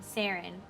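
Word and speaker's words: Saren: Always said it like it rhymes with Darren. Sarin. Got it.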